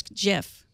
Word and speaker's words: GIF: Well, it's graphic interle format, so I would say graphic. GIF. Right. But then the guy who created it says it's GIF.